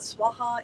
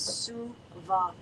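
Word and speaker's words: svāhā: for our purposes today instead of oma swaha which you will hear everywhere uh we have been instructed by Swami kaleswar it is not swaha it is sua three separate and distinct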